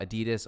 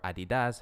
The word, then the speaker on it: Adidas: What's really interesting about Adidas or Adidas, it's pronounced differently depending on where you live.